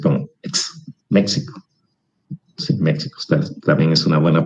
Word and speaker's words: México: Sí, México también es una buena pronunciación, porque es la X, pero el español dice México, la X la pronuncia como J, ¿sí?